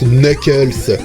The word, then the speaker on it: Knuckles: Oui, je sais, ça se prononce Knuckles. Que voulez-vous, c'est l'habitude.